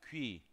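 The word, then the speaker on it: 귀: puntos arriba de u es como cuando escribe como pingüino pingüino Así es como pronuncia quii pingüino así quii quii oreja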